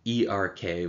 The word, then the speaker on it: ERK: signal regulated kinase is abbreviated irk or e-r-k we pronounce erk so the irk phosphorylation